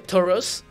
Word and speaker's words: Tauros: que sí había visto esa roquita hay un tauros rojo rojo que estoy hablando negro y como buenos entrenadores que son combate con sus Pokémon ella tiene un se pronuncia toros Pero pero bueno storos nuestro currículo abarca diversas